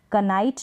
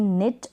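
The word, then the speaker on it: knit: कनाइट नहीं, निट, और कनॉक नहीं, नॉक।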